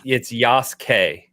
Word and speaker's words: Yasuke: It's Yasuke. You don't pronounce the U, Yasuke.